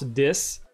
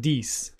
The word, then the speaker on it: Dis: of the developers they I was pronouncing it the house dis he did pronounce it dese yeah we're having fun